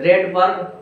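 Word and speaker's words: Rydberg: ऑफ रा रेड बर्ग रेड बर्ग क्या नाम है ऐसे बोलते है इसको रेड बर्ग है आर वाई डी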